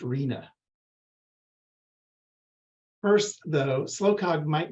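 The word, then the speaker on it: RHNA: the Regional Housing needs allocation or its acronym pronounced Rina first though slow Cog might not be recognizable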